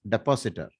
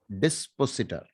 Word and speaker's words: dispositor: is called the dispositor many people across india pronounce it as depositor okay so please pronounce it properly dispositor so the dispositor of